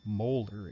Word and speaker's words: molar: a molarity of 2.0 molder is how we pronounce that Big M unit so we see we